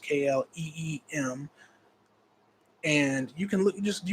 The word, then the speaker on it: Kleem: It's spelled KLEEM or KLIM, but pronounced KLEEM.